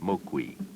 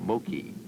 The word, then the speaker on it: Moqui: whose ancestors called themselves Moqui, the name this canyon bears. Modern man insisted on mispronouncing the name Moki, so the Indians now call themselves Hopi, since Moki meant stinking or dead.